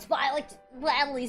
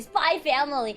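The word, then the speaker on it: SPY×FAMILY: It's not Spy X Family. Spy Family. It's not the same way as you pronounce Hunter x Hunter. You know. You don't say Hunter x Hunter.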